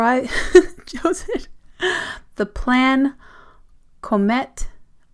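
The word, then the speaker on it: Comète: The Plan Comet. It's a zine event happening in Brussels on April 28th. Plan Comet. It's C-O-M-E-T-E. There is an emphasis on the first E.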